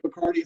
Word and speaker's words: Bacardi: One of the great things about having a name like Bacardi is it does rhyme with party.